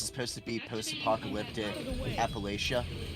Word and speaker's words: Appalachia: I got into Fallout 76 lately, and it takes place in West Virginia, so Appalachia, which they, of course, being from West Virginia, they pronounce it as Appalachia.